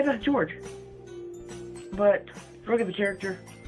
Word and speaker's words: Jorge: And then he yelled up, then George yelled out, my name is pronounced George.